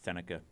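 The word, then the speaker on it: Sennecke: It's like Beckett Seneca. Or Seneke. Seneke, yeah.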